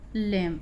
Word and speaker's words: lamb: यहाँ पे है लेम, ए बना हुआ LAMB, लेम पढ़ेंगे ए उच्चारण ए का।